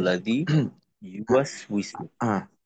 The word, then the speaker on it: يوسوس: ইউ টান হবে না, এটা হবে দ্রুত। হুম, টান দেওয়া যাবে না, তাড়াতাড়ি। কারণ এখানে প্রত্যেকটাই হলো হারাকাত, জজমের উচ্চারণ, যেটা কিনা হুম, মোটেও সময় পাবে না।